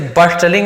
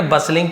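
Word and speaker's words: bustling: बसलिंग यहां पर भी देखिए, इसे बस्टलिंग नहीं पढ़ेंगे, बसलिंग पढ़ेंगे, टी साइलेंट होता है।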